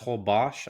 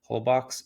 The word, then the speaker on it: Holbox: It's pronounced Holbox, I guess, but I just hate to sound pretentious, so I'll just say how it looks, Holbox, and it is an hour and a half north of Cancun.